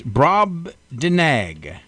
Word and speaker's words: Brobdingnag: you have to study Brobdingnag I did not I had to practice saying it no it's it's brob de nag Brobdingnag Brobdingnag actually I got online